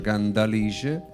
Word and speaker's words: Cantalice: che si chiama Cantalice con la d anche se si scrive con la t Ma si pronuncia candalice e madre invece della